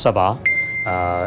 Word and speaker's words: ça va: what's in the name it's very common French phrase pronounced Saba and it is basically